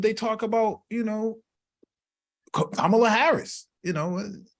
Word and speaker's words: Kamala: Kamala Harris you know and mispronounce her name all the time always missing out mispronouncing her name man Kamala Kamala uh uh Kamala and it's like you know it's Kamala man it's let's get the